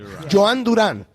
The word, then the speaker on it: Jhoan Duran: Joan Duran. Or do I say Duran? Joan Duran. That's if you want to be in Spanish. Joan Duran.